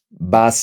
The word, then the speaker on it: va a: People say vas a. Va a. People actually say va. It's like a long A. Va. You connect the two A's.